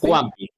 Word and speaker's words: Juanpi: Is it Wampi? Juanpi. Juanpi, depends on your pronunciation.